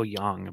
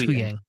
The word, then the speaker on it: Huyang: That's how you pronounce it. I always want to go Yang, but that it's Huyang.